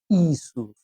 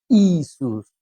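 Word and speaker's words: Ἰησοῦς: ¿Cómo se dice en griego? Isus, Isus a Jesús y en castellano eso, pero ese es su nombre, Yeshua Hamashia, Jesús, el Mesías.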